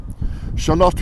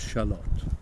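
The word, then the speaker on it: Shalott: has a watery theme shalot we think is a location invented by Teton for its assonance and rhyme with camel lot also a mythical Place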